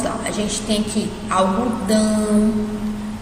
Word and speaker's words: algodão: saindo pelo nariz, mas quando você fala dão, você sente que sai um pouquinho pelo nariz, né? Então, vamos pronunciar só essa palavra aí, pronuncia depois de mim. Algodão. Sentiu que saiu pelo nariz?